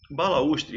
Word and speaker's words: balaústre: Um detalhe, balaústre, esse U, tá?